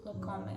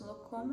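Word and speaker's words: Lancôme: How do you pronounce Lancome? I pronounce Lancome. In Brazil, I would say Lancome.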